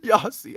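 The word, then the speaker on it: Jassie: that that's technically how it would be spelled like we we say like the y sound we don't really use the y sound on afrikaans we say yeah for the j sound that's our yeah uh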